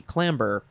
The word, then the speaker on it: clamber: Next is clamor or clamber, because that's how it's spelled with a B, clamber.